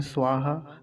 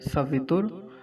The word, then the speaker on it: स्वः: स्वः तो आसान है, स्वः। अब कुछ लोग स्वाहा कह देते हैं, स्वाहा, वैसा स्वाहा नहीं कहना है जैसा आहुति लगाते समय स्वाहा बोलते हैं। क्या है, स्वः, ऐसा।